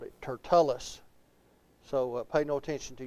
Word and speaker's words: Tertullus: It is not Tertullus. It is Tertullus. So I'm looking in the Bible here in my small book. So I'll just stick with what I've always called it, Tertullus.